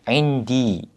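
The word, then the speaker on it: عندي: 그래서 인디 이렇게 발음이 되는데요.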